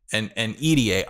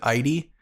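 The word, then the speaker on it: Idie: I say EDA. That the girl from Generation Hope with the fire and ice powers, right? I've heard people pronounce it ID, and I think that sounds stupid. So I say EDA.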